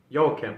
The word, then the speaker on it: Joachim: his name was, I didn't know how to pronounce this, so I was thinking Joaquin or Joachim, but his name is Joachim.